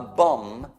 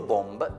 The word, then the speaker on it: bomb: Cioè, a bomb, scritto bomb, ma non si pronuncia l'ultimo B, è bomba.